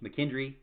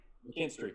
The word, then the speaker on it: McKinstry: Tony Grimes and Quincy McKendry. Did I say it right? McKinstry, yeah. McKinstry.